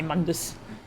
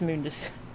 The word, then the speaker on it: Mundus: I hate how they say Mundus. Mundus. Gotta kill Mundus. News lasers. Yes, it's supposed to be pronounced Mundus.